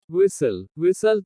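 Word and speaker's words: whistle: T is silent in certain words. कुछ शब्दों में T का उच्चारण नहीं होता। कैसल किला। लिसन सुनना। विसल सीटी।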